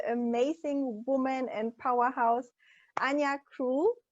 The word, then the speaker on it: Ania Krol: woman and powerhouse and yak cruel I will pronounce it in a Polish way so everybody who's from